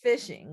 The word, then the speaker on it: phishing: So it's phishing when literally it's spelled PH, but it is phishing.